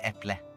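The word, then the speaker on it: äpple: do you say apple it's almost the same it's just pronounced instead of apple it's epley how would you how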